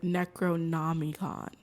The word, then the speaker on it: Necronomicon: He was like Necronomicon, not me, Necronomicon.